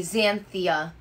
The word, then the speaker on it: Xanthia: Oh, I pronounced the X like a Z. Xanthia.